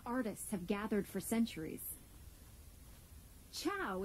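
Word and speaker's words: ciao: have gathered for centuries Chow is how you say hi in Italian go ahead give it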